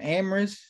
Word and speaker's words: Amoris: How do you say that Sean? Amoris correct amoris Amoris joined by linkminded